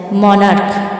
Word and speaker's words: monarch: যেমন মনার্ক, MONARCH, এখানে শেষ বর্ণ দুটি আছে সি এবং এইচ, এই CHের উচ্চারণ হচ্ছে ক, তাই শুধু এস যোগ করে হলো মনার্কস।